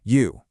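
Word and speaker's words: 余: For instance, take the character for fish, which is pronounced you.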